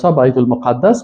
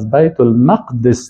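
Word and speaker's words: بیت المقدس: طرف بعت المقدس بود ان بعض بعت المقدس مه ا غلط بيتت المقدس تلفظ درست ا قسم خوب تر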